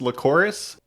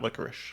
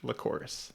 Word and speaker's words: Lycoris: All I will say at this point is just to correct you that it's pronounced Lycoris, and it's most often referred to as red spider lilies.